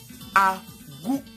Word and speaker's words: Agou: Parce que la lettre U, nous allons en venir, la lettre U se lit OU.